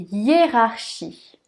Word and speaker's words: hiérarchie: y est rare si le h ne se prononcent pas lle rare les deux aires sous bien prononcé pour prononcer sa essaye de rugir comme un lion rares rares chi ici on a le son chaud shi y est rare shi yee hiérarchie dans une phrase julie